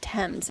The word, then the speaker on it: Thames: So, we are on the Thames, which is spelled like Thames, but pronounced Thames.